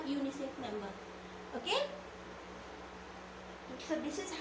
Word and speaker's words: UNICEF: uni chef member that is wrong we say unicef member okay so this is how we differentiate